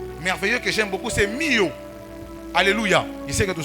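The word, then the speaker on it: μύω: En grec, mystère, je le disais, c'est mystérion ou encore mio. Mio s'écrit pour ceux qui écrivent M-U-O.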